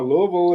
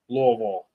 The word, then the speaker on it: Louisville: uh I don't know Louisville is oh yeah Gunner you have to say it like you you have something in your mouth Louisville not Louisville Louisville but uh PA